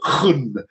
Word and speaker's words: gun: There's a Dutch word, gun, which I think is spelled G-U-N, but pronounced obviously with a large amount of spittle because it's Dutch, which conveys that, which